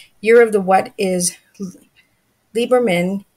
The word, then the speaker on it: Lieberman: last name right lieberman lieberman correct lieberman okay so the e is silent is from maple canada